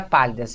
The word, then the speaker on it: pálidas: Agora a gente tem a palavra pálidas. Veja, a última sílaba não é a tônica, nem a penúltima, é a antepenúltima sílaba.